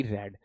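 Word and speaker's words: read: बच्चा रेड ही होती आर ई ए डी रेड देखो स्पेलिंग बिल्कुल सेम है लेकिन प्रोनंसिएशन बिल्कुल चेंज्ड है तो यानी ये रीड है ये रेड है ये रेड है इसलिए मैं इसको रेड पढ़ रहा हूं क्लियर चलिए बहुत अच्छी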